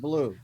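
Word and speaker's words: bleu: accent when he said blue blue yeah no it's like because it's not a blue it's b-l-e-u it's not spelled like yeah it's it's a it's a french word so seriously now what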